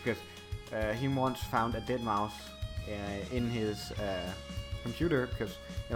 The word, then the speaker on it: deadmau5: as Mao, and then the 5 has an S, so it's pronounced S, like dead mouse, you know?